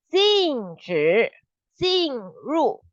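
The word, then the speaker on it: 禁止进入: It will sound like jin, the jin, like hantu, the jin, and then 禁止进入. So first jin is with 止, 禁止. Second jin is with 入, 进入.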